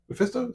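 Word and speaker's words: Mephisto: um Mesto Mesto yeah Mesto is how you say it that's his number two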